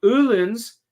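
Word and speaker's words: Öhlins: The only reason I know the umlaut on the O is oo is from Uhlens, which is my favorite suspension for motorcycles.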